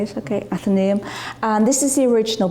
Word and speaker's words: Athenaeum: Frederick spoke in the and I hope I pronounced it wrong after name that's how you say it okay Athenaeum and this is the original building and sadly